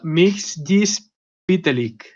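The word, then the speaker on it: Mxyzptlk: guías se pero no se pronuncia mls vite lic a eso se dice un poco más rápido yo no soy capaz pero según las guías así es como se pronuncia su nombre y como digo pues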